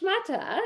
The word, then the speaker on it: shmatta: Like, pass me the schmutter. I need to wipe this down. Wow. Oh, that's so Okay. But it's really pronounced schmuta.